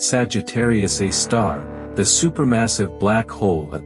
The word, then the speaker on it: Sagittarius A*: This is Sagittarius A*, pronounced Sagittarius A star, the supermassive black hole at the center of our galaxy.